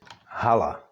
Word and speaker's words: hala: check it would be pronounced more fully more H like for example in the word Hala which is a hall